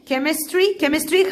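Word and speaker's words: chemistry: سائل ليكويد كيمياء كيمستري خلي بالك الاتش سايلنت وسي منطقه كي كيمستري.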